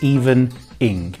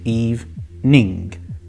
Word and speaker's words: evening: is pronounced evening because they see the gerund or what they think is a gerund at the end of the word so they say even ink it's not even in its evening evening hey my foreign